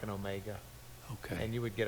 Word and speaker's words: Omega: We did the Omicron as a long O with a little bit more length of time to it as a long O. I mean the Omega.